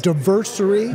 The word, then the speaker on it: Diversary: It's Diversary. Diversary. Like all right. Anniversary.